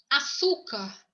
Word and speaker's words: açúcar: A palavra açúcar, açúcar, palavra açúcar, tá? Ela termina em AR. A sílaba tônica desta palavrinha, ela é na segunda sílaba, açúcar, car, a primeira, segunda, e a terceira sílaba. Então, leva acento.